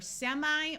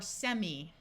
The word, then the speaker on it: semi: This prefix, it can be pronounced either semi or semi. You will hear it both ways in American English.